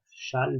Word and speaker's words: Chasles: Vous remarquerez l'orthographe, ça se prononce Chasles, mais c'est Chasles.